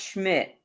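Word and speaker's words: Szmyt: It's pronounced Schmidt.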